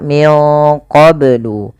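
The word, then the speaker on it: من قبل: ya Wu qblu YH kemudianfal qblu ini banya harus dipantulkan karena ia ada bacaan qqalah maka Bacanya adalah minqblu kesalahan yang terjadi dalam membaca Qalqalah tidak memantulkannya contoh qou atau menambahkan Hamzah qu qu ini menambahkan Hamzah maka dalam membaca Qalqalah tidak boleh ada dua itu tidak boleh yang pertama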